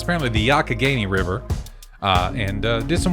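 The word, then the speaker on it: Youghiogheny: in pennsylvania and went down the not the yugioh haney river as i would pronounce it forever because i'm stupid i was like i went down to yukio haney got down there on the olyugio no it's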